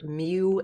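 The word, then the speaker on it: μ: Micro, or mu, this is how you say that symbol, is Greek letter mu, and if it's typed, it usually looks like this.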